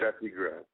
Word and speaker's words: Steffi Graf: Because I noticed that I have a song right here called Steffi Graf. Is that how you pronounce it? Steffi Graf.